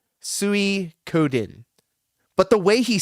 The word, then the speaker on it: Suikoden: DJ and DJ just It's phonetically exactly how Phil is saying it. Suikoden, right? Axe Grinder's correct. King Be Cruel's correct. Suikoden.